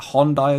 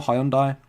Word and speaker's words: Hyundai: but they're all like Hyundai as well. Hyundai or Hyundai, depending on where you're from, how you pronounce it. I think Hyundai, that's actually how I meant to pronounce it, but massive institutions here